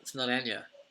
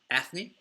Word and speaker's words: Eithne: I said, I think it's like Anya. And she goes, no, it's not Anya. And then there was another pronunciation which was Athne. She said, "Oh, Athne, yeah, that sounds about right." I said, "Yeah, it's like a New York Anthony."